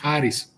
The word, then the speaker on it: Harris: But the way that the Greek pronunciation of it, there's like a little bit of an R trill there. It's just slightly different than like the R that you get from English or American English pronunciations.